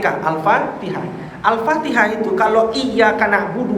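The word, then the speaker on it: الفاتحة: salah salah contoh Alfatihah Alfatihah bukan alfatik Alfatihah al-fatihah itu kalau iyaka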